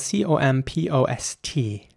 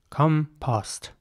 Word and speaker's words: compost: know in the comments in British English this will be pronounced compost compost in American English it would be more like compost the the O at the end is very round composed in American English